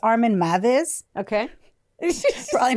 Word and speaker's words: Meiwes: No, like, it's spelled Meiwes, but it's pronounced Meiwes.